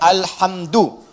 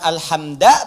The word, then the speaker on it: alhamdu: Dibacaannya alhamdu, bukan alhamda pakai fathah atau alhamdi pakai kasrah.